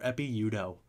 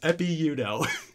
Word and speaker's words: Ekpe Udoh: How about a basketball player, Epi Udo? EKPE UDOH. Whoa. He doesn't. No way. That's. You're saying the K is silent? Yes. I was not aware of that. It's Epi Udo.